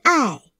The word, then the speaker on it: 爱: 最，爱，爱，四声爱。词语，亲爱，喜爱。